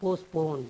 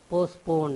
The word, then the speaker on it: postpone: வாஸ் போஸ்ட்போன் ஒத்தி வைக்கப்பட்டது இந்த பிஸ்ட போஸ்ட்போன் இருக்கு பாருங்க அந்த பத்தி உச்சரிக்காம சொல்லணும் போஸ்ட்போன் எப்படி சொல்லணும் போஸ்ட்போன் அப்படின்னு சொல்லணும் முடிவு ஒத்தி வைக்கப்பட்டது அதுவே